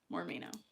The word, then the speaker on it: Moremeknow: And for those of you who don't understand what more me know means, it's my last name. More me know. In a way that people can actually pronounce it.